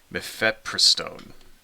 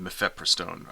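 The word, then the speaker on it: mifepristone: right and this is a drug called uh mefepristone right hey I pronounced it right that time mepheprostone all right so I told you I'd learned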